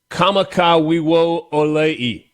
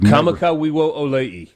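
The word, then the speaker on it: Kamakawiwoʻole: I think generally speaking with the Hawaiian pronunciations, you have to pronounce every vowel.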